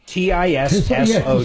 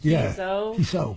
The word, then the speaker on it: Tissot: T I S O T. Is that how you say it? Tiso.